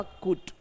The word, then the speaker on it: could: इसमें जो एल है वह साइलेंट है। इसलिए इसका प्रोनंसिएशन बनेगा कुट।